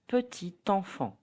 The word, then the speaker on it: petit enfant: T stays T. Petit enfant will be pronounced petit enfant.